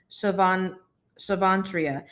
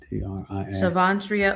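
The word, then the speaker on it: Shavontria: Oh, her name is Shavantria. How do you spell it? SHA. Oh, wait. SHA. VON. TRIA. Shavantria.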